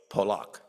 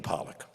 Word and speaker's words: Polak: learned from the Holocaust my full name is poock when we immigrated to the United States my mother realized people had difficulty pronouncing the last name so it became Pollock is the paternal